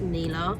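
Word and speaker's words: Nila: I think it's Neela actually, because I think it's N-I-L-A, but pronounced Neela.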